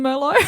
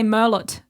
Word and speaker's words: Merlot: pronouncing the S Mero we're not pronouncing the T I was going to say is there an s in Mero no no negative um yeah cuz otherwise you would say Merlot okay right like that's